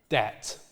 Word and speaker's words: debt: something like something like debt with a tip just like this one here incidentally this B here is complete nonsense this B here we'll see more about this later on it's not pronounced it's just a little